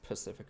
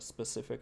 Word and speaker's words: Pacific: heard that joke no some people mispronounce Pacific Ocean the specific ocean oh that is kind